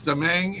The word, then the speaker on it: DeMang: Yes, there's a lot more letters than what I'm pronouncing, but it's DeMang, and he is with, it's going to be a tricky one, folks.